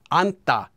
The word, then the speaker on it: 앉다: bit so for example let's take the verb anta which is to sit down notice that due to sound change rules this is pronounced as an if the verb stem is